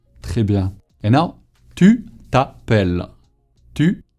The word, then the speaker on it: t'appelles: With an S at the end that you don't pronounce.